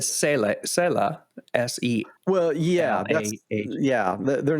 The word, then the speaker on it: Selah: And all the other translations will probably say it's not Selma. How do you pronounce it? Selah.